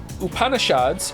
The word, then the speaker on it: Upanishads: The Vedas, pronounced Vedas, and Upanishads, your pronunciation was quite close, are actually ancient Hindu texts.